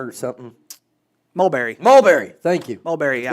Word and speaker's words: Mulberry: I know I'm going to mispronounce. Is it Murberry something? Mulberry.